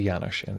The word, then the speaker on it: Janusz: my name thanks janusz it's a yanoshan if anyone doesn't know okay so um uh